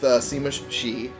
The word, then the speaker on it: Sima Shi: I completed all the other ones, which is why I have form an alliance done with Sima Shi.